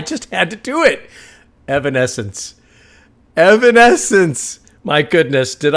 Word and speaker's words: Evanescence: Evan essence makes more sense.